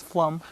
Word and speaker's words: Flomm: Dennis Flomm, thank you very, and I said your name wrong again. It's Flomm.